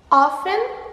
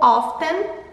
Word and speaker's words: often: Often ou often. As duas pronúncias são aceitas.